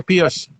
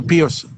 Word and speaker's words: Pius: Is it Pius or Pius? I pronounce it Pius, but he pronounces it Pius. So, I mean, I'm assuming he was named after Pope Pius, so, or Saint Pius.